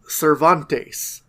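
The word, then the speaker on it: Servantes: vrio his name is cantes but it's spelled like servant but it's pronounced like Miguel Cervantes the great Spanish writer it's just such a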